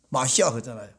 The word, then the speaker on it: 마시아흐: 히브리 발음으로 마시아흐잖아요.